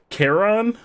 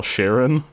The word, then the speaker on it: Charon: That's another name that I pronounce wrong. Charon? Charon, the guy that the shopkeeper in Hades, that I call Sharon.